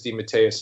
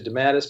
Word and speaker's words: DeMatteis: we weren't on the air the authentic Italian pronunciation is D Mateus it came to the United States it got squashed into de mattes but when I was a kid my father